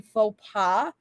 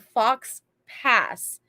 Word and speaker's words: faux pas: me and literally said, "You mean faux pas?" And I was the idiot who read Fox Pass. And if you know, you know, because that's how faux pas is spelled.